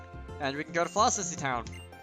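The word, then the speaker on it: Floccesy Town: Is it even pronounced Flossissy Town? I've never watched the anime of, like, past halfway through Gen 2 anime, so I don't know how things are supposed to be pronounced. I'm just assuming it's Flossissy Town. It has a lot of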